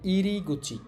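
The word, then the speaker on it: 入り口: এখানে এটার উচ্চারণ হবে গুচি। তাহলে ইরি গুচি।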